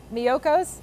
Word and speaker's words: Miyoko's: which we were talking about earlier i always mispronounced that m-i-k-o-s-a-s miyoko's terrible shameful but they have cashew based cheeses